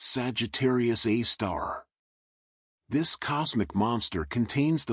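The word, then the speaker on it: Sagittarius A*: super massive black hole known as Sagittarius Asterisk, pronounced Sagittarius A star.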